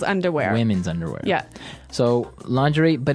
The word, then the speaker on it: lingerie: And the first one is lingerie. Lingerie. Lingerie. Okay. So, lingerie, this is a nice fancy word. Mhm. Basically for underwear. Right. Right. For women's underwear. Women's underwear. Yeah. So, lingerie, but it's very nice.